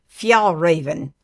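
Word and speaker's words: Fjällräven: But anyway, it's called Fjallraven.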